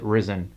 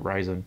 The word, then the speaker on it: Ryzen: of led matrix displays or is it risen i've always pronounced it ryzen the horizon has risen